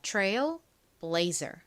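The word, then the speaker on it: Trailblazer: blazer이 됩니다 tril blazer 여기서 가 장모음 소리가 나는 이유는 원래이 단어는 Trail이라는 단어와 blazer이라는 단어가 합쳐진 단어인데요이 blazer이라는이 단어의 가장 원형이입니다 blaze 자이 단어를 보면 몸이 a e 두 개밖에 없죠 그런데 끝 모음이 이예요 이때 보통 첫 번째 모음은 장모음 소리가 나죠 그래서이 단어에서 A 장모음 소리 a 나는 겁니다 자 다시이 단어로 돌아와서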